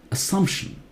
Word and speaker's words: assumption: Assumption is wrong. Assumption. Assumption. Double S does not take Z sound.